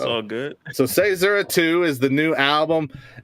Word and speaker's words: CAESURA: CAESURA. Close. CAESURA. Close. CAESURA. Okay. Man, I told you. So, it's all good. So CAESURA II is the new album, and obviously building off the first iteration, right?